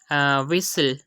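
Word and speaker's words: whistle: Third example है विसल। इसमें भी हम देख सकते हैं कि एस से पहले एस के बाद टी और एल फिर एल आ रहा है तो हमने यहाँ पर भी टी को साइलेंट किया।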